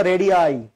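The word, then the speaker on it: radii: আই লাস্টে কি বসাবেন উচ্চারণটা কিন্তু রেডি না উচ্চারণটা রেডি আইডি উচ্চারণটা রেডি না অনেকে আছেন যে সুর করে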